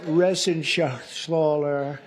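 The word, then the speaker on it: Reschenthaler: thank you and Guy Ren shaala you know that Ren sh schler he's uh that's actually the way you pronounce it you know nobody else gets it right I got it right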